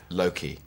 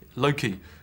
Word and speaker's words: Loki: want to get clear how are you pronouncing your character's name Loki Loki because I swear Anthony was saying Loki uh well well he's well so maybe he maybe that's I think he says Loki Loki like that in his deep gravitas sincere way yeah there we go Loki